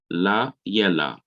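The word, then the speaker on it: לילה: Now, notice the simple Shiva comes under the yod, and it begins the syllable in the middle of the word. So it is to be pronounced la yela.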